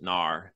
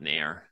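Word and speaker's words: NAUR: yeah n-a-u-r-i-n-a-u-r and then I pronounce it Nar not Nair yeah someone asked me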